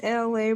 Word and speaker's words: Elay: This is LA, pronounced like LA, like the city.